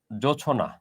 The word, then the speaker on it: জোছনা: এটা থেকে সামান্য পরিবর্তিত হয়ে শব্দটা হয়েছিল অর্ধতৎসম জোছনা। এটার উচ্চারণটা যদি আপনি করেন, এটার উচ্চারণটা কিন্তু এরকম, জো ছো না, উচ্চারণটা হচ্ছে এটা।